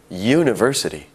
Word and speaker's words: university: University starts with a U, a vowel. However, it sounds like it starts with a Y, Y, university.